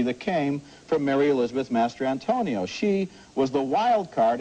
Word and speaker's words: Mastrantonio: Yes, and if she wins the Oscar this year, you will find out how to pronounce her name. It's Mary Elizabeth Mastrantonio. Okay, I does apologize. Not rhyme with San Antonio.